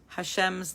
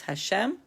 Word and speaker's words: Hashem: We are continuing with Hashem's name. Last week we finished with lesson 27, in which we learned the pronunciation of God's name.